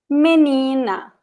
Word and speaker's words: menina: So, menina. Menina. You have 3 syllables here. Menina. And the stressed one is the one in the middle.